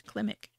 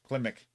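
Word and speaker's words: Klimek: Kilmick? How do you pronounce that? Well, if you spelled it right, it says Klimick. Oh, there you go. Klimick.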